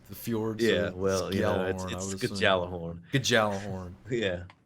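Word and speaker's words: Gjallarhorn: a uh exotic rocket launcher it's like the fjords it's not fjords it's the fjords Galah horn Galah horn yeah it's gal jalapeno horn um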